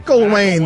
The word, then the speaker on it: McElwain: McElwain. The E's before the L. You keep putting the L before the E.